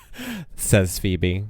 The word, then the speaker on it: Say's Phoebe: Says Phoebe. Like, okay. I know it's pronounced Say's Phoebe.